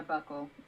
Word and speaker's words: buccal: Buccal? My pronunciation is always all over the place. Yeah, buckle.